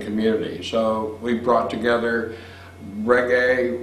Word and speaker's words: reggae: so we brought together reggae which of the time radio stations pronounced Reggie and this was in the 80s so people hadn't really gotten the island flavor yet so we introduced